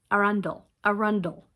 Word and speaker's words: Arundel: Arundel. That's how you say it.